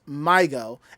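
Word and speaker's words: MyGO: and taki on drums the name is pronounced migo and his pronunciation can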